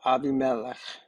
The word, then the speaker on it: Abimelech: community but but this abimelech or abimelech as it would be pronounced in Hebrew is Father God he's